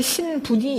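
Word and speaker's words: 新聞: 아사히 신분이 일본 발음입니다. 신문은 한국 발음이고, 예.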